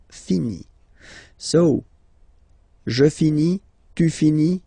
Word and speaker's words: finit: So it, final T not pronounced. Il, elle finit.